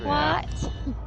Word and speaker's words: what: Say what? Get it? What? Kumquat? Say What? what? Yeah, Laura still picks on me because I pronounce the H in what.